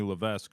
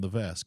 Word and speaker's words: Levesque: to be uh Stephanie Levesque now yeah they're G to drop M thing did not this this shocked me all these years I've been saying Levesque and guess what the S is silent in his it's l